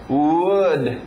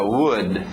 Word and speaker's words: would: Mesma pronúncia que nós vimos com could, lembra? Não erra essa pronúncia, é a mesma coisa que good, aquele som do soco na barriga. Good, could, would, ok? Sim, é a mesma pronúncia de madeira, would, ok?